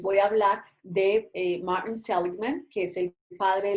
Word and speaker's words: Seligman: Entonces, Martin Seligman se escribe Martín y Seligman, así como se escucha con G, Seligman.